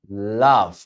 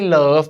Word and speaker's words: love: แต่ เป็น ออก เสียง อะ นะ ครับ Monday Love อ่ะ ไม่ ใช่ love นะ เป็น Love อ่ะ เหมือน รอ เรียง แ